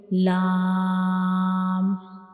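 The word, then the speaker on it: لام: Now next letter is lam, lam, lam. So when we pronounce lam, the tip of the tongue will touches the back side of the gum, that is back side of the upper front teeth.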